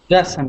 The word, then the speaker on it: Kasim: Kasim. Yeah. Oh, so Kasim with the accent at the beginning.